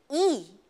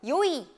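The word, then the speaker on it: いい: 우리가 좋다라는 형용사를 말할 때는 이 혹은 이 같은 한자를 쓰고도 요이 이 두 가지로 발음이 됩니다. 자, 좋다는 발음이 두 가지가 있어요. 이 혹은 요이 이렇게 발음이 되는데요.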